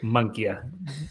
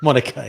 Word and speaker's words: Monica: I always say Monkey. It's Monica, yeah.